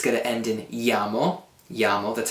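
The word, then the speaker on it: -iamo: When we're talking about noi, it's going to end in iamo, that's how that's pronounced, I-A-M-O.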